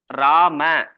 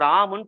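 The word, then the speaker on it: राम: ஆக்சுவலா இதை படிக்கும்போது ராம அப்படிதான் இருக்கும். ஆனா ஹிந்தியில ப்ரொனவுன்ஸ் பண்ணும்போது ராமுன்னு பண்ணணும். ராமுன்னு பண்ணணும். ராமன் படிக்கக்கூடாது, ராம்னு படிக்கணும். 3 லெட்டர்ஸ் வந்துன்னா 3வது லெட்டர்.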